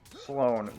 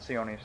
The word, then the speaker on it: Sloane: Sloane was the girl, not Sione, Sloane.